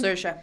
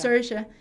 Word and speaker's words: Saoirse: Saoirse, like in inertia. Saoirse.